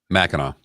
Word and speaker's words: Mackinac: Mackinac Island in Michigan Mackinac so even though it's spelled akanak Mackinac it's Mackinac why are you going